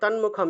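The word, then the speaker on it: তন্মুখম্: করে উচ্চারণ করতেছি না দন্তীয় ন এর নিচে যে হসন্ত আছে এটাকে কিন্তু আমরা ভাঙ্গি নাই ঠিক আছে তন্মুখ সাথেই উচ্চারণ অর্থাৎ ন এবং হবে হ্যাঁ হ্যাঁ যদি আমরা ভাঙতাম এই শব্দটাকে আমরা ভাঙ্গি নাই কিন্তু এখানে তন্মুখাম একসাথেই উচ্চারণ হবে নটাকে কিন্তু আলাদা ভাঙ্গা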